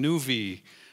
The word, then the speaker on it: nuV: this group I'm calling nvie rhymes with groovy and uh if you